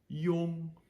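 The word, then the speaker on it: iong: I based sounds is i o n g now we had before with I ouu it was the yo it's been a long time how are you it's great to see you yo so we're just taking that yo and we're tacking an NG on the back of it so we have yo and now we have to again kind of abbreviate it truncate it with an NG Yong Yong okay Yong so we have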